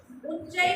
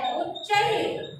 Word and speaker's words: उच्चैः: उच्चैः को कैसे पढ़ेंगे? उच्चैः, लास्ट में ह जैसा प्रोनाउंस करेंगे जो विसर्ग है।